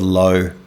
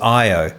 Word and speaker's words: IO: get a lot of low. Hey, low. It's like, no, it's IO.